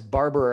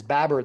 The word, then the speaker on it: Baber: with mpp babber i pronounced his name wrong as barber apologizes babar there's no r uh in in his name um i guess i